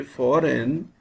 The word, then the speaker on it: foreign: is silent in foreign when we say foreign we do not pronounce g sign fein gh is